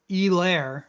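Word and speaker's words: Helaire: be very excited to play clyde edwards e-lair i think they didn't let us forget that that's how you say that dude they made sure that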